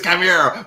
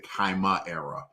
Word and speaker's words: Chimera: It's Chimera, but with a KY. With the KY. I tell you, I mispronounced that name. I would always give it an extra syllable. I would say Chimera back in the day, but I didn't understand.